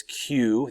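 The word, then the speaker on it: queue: the Chinese to wear so we see this Q that's how it's pronounced qu u UE is Q this would have been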